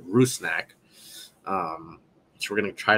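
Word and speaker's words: Rusnák: Albert rusnak Ruth snack I saw the pronunciation guide that our guy James wallard on Twitter the PA announcer got said ruse snack um so we're gonna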